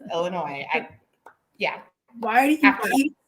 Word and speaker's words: Illinois: to say it now it doesn't have an s it's not illinois it's illinois yeah why are you